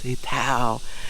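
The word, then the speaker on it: sitaw: And these crazy green beans, the sitao, I think I pronounce that wrong every single time, and Ness keeps saying it's sitao.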